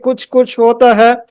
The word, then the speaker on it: Kuch Kuch Hota Hai: have seen movies like Kuch Kuch Hota Hai. I think I'm pronouncing it the right way.